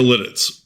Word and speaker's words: Lititz: Anyway, back to Lidditz, which is spelled L I T I TZ.